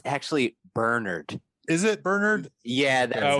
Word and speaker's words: Bernard: Bernard Rose, and it's actually Bernard.